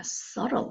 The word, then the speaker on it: subtle: subtle 하면 비발음이 안 나는데요.